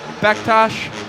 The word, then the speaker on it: Bektas: name is David Kramer I'm joined by Amir bechtosh remind me is that the correct way to pronounce her last name you got it my